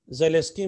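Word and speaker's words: Zelinsky: अब इसमें एक बहुत ही इंपॉर्टेंट कर रहे हैं हम, HVZ, हेल वलहार्ड ज़ेलेस्की रिएक्शन, ज़ेलेस्की में N साइलेंट है, बहुत ही इंपॉर्टेंट है, आज का ये कैटेगरी 1 स्टार का भी कह लीजिए एक तरह का पहला है।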